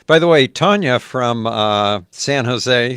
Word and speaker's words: San Jose: You know, I'm representing the please pronounce it San Josie. I don't think so. What? San Jose.